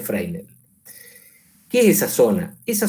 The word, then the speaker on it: Fresnel: zona de freel sí se escribe fresnel se pronuncia frel Qué es esa zona